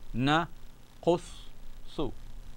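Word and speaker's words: نقصّ: So we have noon, fatha gives me the sound of na. Qaf, dhamma is qu, but joined to the sod, qus, and sod dhamma, su. Na, qus, su. Nahnu naqussu alayka ahsan al-qasas.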